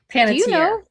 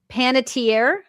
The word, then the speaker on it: Panettiere: How do I pronounce Hayden's last name? Panier. Panitier. Yeah. Hayden Panitierre.